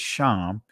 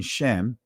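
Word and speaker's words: שם: as this Israeli Hebrew, the ancient Hebrew word for name is Sham. The Israeli pronunciation, Shem or Shem, right?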